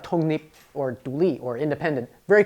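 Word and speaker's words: 독립: So in Korean, you have to combine the sounds together into a smoother transitional sound. So it's tongnip, tongnip. You change that K and that L into a smooth sound.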